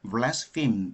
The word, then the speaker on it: blaspheme: 그래서 이 자가 이 blaspheme, 이게 동사는 blaspheme, H-E-M으로 ME로 끝나고 이것은 발음을 blaspheme 이렇게 발음합니다.